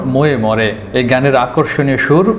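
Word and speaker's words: Moje more: ময়ে ময়ে লেখা হলেও এর উচ্চারণ ময়ে মরে।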